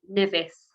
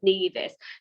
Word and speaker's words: Nevis: um because a lot of people get their name wrong they think nivis and that's something that we see quite a lot of but the correct pronunciation is nevis some people have never heard of nevis and